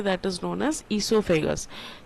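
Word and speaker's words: oesophagus: That is known as इससोफेगस। Spelling ई से नहीं ओ से चालू होता है। ओ साइलेंट है। तो इसलिए उसका नाम है ओसोफेगस या इससोफेगस।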